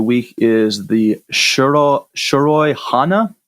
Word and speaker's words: Shiroi: is the shirt all shiroi hana not sure how you pronounce it it's it's Japanese so that's shi roi and it's a Japanese